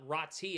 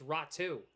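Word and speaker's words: Räty: I was corrected. It's not Rati. It's Ratu. But it's it's spelled R A T Y.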